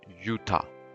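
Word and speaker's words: Juttah: that's utah right so it says utah pronounced utah with a y is a town in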